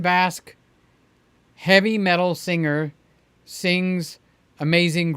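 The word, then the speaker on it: Vasc: new guy named Dan v-a-s-c how would you pronounce that Dan bask okay so when it said Dan bask heavy metal singer sings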